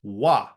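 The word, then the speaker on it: は: Also note that when it's used as a grammatical particle, the hiragana for ha is actually pronounced wa.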